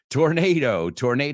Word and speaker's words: tornado: Tornado is the correct pronunciation, right?